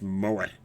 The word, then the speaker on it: moe: Pronounced moe.